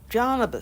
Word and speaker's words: Garnibis: Garnibis, spelt with a G but pronounced like a J, was one of the